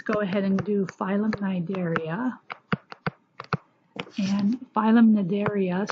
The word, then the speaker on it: Cnidaria: ahead and do violent Cnidaria and find them that area so the C is silent the C and we don't pronounce the C so this includes jellyfish